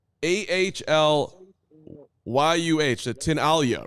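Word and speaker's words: Tinaglia: run as the mayor tinala is it's it's not when you look at it you would think it's tinaga t i n a g l i a um and I don't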